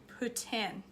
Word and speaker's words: poutine: It's Poutine. Poutine. You gotta put a little S spin on it. You gotta put a little S spin on your T. Poutine is how it's pronounced.